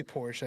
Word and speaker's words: Porsche: called both I think where we live mostly Porsche mostly Porsche I think though here yeah the E is not pronounced at all true yeah anyways all